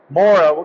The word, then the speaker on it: Mora: so this is a MOA I call it a MOA or Mur if you're if you really want me to butcher the Swedish language but what what model